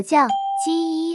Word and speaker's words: 叫: 我叫叫 My name is 我是第三声，叫叫是第四声。